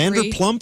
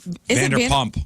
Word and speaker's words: Vanderpump: Vanderplump really what it's called? Is it Vanderpump. Oh, Vanderpump. She said Vanderplump.